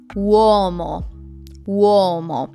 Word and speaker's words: uomo: If I want to say man, uomo. You see how I'm opening my mouth.